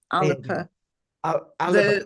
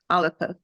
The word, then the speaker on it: Alba: the party Alber party Alba Alba alip Al the Scott pronunciation is aliper alipa okay all right what's